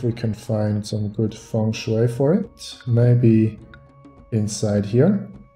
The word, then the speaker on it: feng shui: um mr any more good feng shui or feng shui pronounced a little bit more properly maybe if i shift